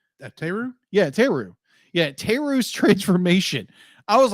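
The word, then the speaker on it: Therru: Thera? How do you pronounce her name? Teru? Yeah, Teru.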